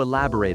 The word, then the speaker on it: elaborate: I'd like to elaborate on that. Practice note, elaborate has four syllables, e lab o rate.